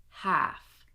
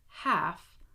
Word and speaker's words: half: Again, would, should, could, walk, talk, half, chalk, salmon. Okay, now were any of these words surprising for you? Because I have worked with so many English language learners around the world, and these are the words that they almost always mess up because of the silent L.